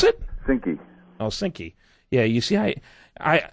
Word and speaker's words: Synqy: founder of Sinai Corporation is that how we pronounce it sinki oh sinky yeah you see I I I never got